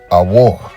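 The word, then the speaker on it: אור: it from Face Value it looks like it says or like the rocks or metals that are used for certain material but the correct pronunciation would be a war which sounds like a wall then you have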